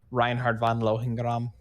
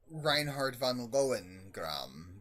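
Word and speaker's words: Reinhard von Lohengramm: I salute you, Reinhard von Lohengram. Good pronunciation. Oh, thank you. I like to think of myself as an Imperial at my heart. Yeah, it would have been more like Reinhard von Lohengram, but pretty much exactly that.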